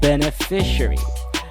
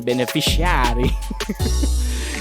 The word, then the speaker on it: beneficiary: Take note of the difference in emphasis. I emphasize the different syllable of this particular word. Don't emphasize the shari in beneficiary. You emphasize the middle fi syllable of the word, beneficiary. Don't forget the schwa right at the end.